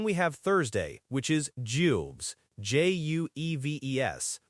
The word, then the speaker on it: jueves: And then we have Thursday, which is Jueves, J-U-E-V-E-S, pronounced duefes. That J is key here, it's that soft G sound, and Jueves comes from Jupiter, the king of the gods.